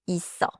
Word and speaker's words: 있어: Is written 있어. But it sounds like 있어.